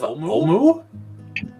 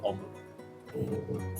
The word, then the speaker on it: Omu: He said that he believes it may have something to do with the legend of Omu.